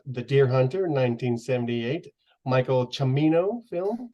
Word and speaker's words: Cimino: deer hunter 1978 Michael chimino film correct yep sure how to pronounce that but looks like Simo or kimino but chimino I guess is the right way to say it um so Darren I